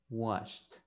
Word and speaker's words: washed: le pone la ed, esa ed va a ser pronunciada como una T.